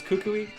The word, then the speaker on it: Kukui: how do you is so it's Kukui and that's how I pronounce it so he's cuckoo